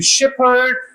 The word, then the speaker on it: Shepherd: Another exception, it is pronounced P in Shepherd and Clapham Junction. In these two words, speech is pronounced p, not f.